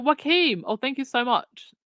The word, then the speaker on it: Joachim: Oh, Dana, the name Gochim is pronounced. Was it Joachim?